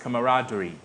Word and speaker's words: camaraderie: The word is pronounced camaraderie.